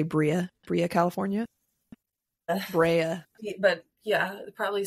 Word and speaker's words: Brea: Brea. But yeah, probably spelled the same. B-R-E-A.